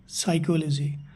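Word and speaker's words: psychology: সাম আছে P silent সাইকেলজির P silent জানাই আপনার যদি এনে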